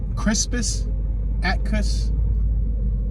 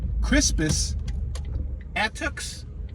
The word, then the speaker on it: Crispus Attucks: We just passed Crispus Attucks or Attucks Middle School. Let me say this again because I slaughtered that pronunciation. Crispus Attucks Middle School.